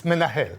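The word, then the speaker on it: מנהל: Okay, it's menahel, okay, in Hebrew. So, for instance, for that matter, instead of being embarrassed but not being able to pronounce menahel in Hebrew, we help our students to remember it. How? For instance, if they associate that menahel, a man from hell, okay?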